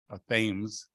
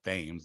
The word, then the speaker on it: Thames: the renaming of the Thames, which is really not called Thames, it's called Thames, I believe. This has been mispronounced for years, but it's in regards to reclaiming the name Pequot.